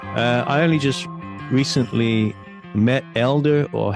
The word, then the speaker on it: Helder: I only just recently met Elder or Helder. We have to make sure we pronounce the H or not pronounce the H in Portuguese.